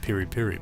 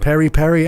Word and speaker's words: piri piri: Perry all day long I think it's pronounced piri piri but I ain't got it Perry Perry and piri piri and